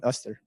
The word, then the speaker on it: Esther: Can we welcome Esther? Thank you so much. You don't have to pronounce the H, by the way.